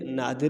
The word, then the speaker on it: نادر: تو اس کو دونوں کا جو ہے ایک ہی تلفظ ہے، قادر اور نادر. دال پہ دونوں پہ جو ہے نا زیر لگا کے پڑھیں گے.